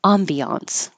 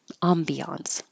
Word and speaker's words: ambiance: not exactly French but when Americans want to make it sound more French Ambiance Ambiance breathtaking view breathtaking view